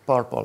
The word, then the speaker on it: prpl: that way prpl but we pronounce it purple like the color and my italian accent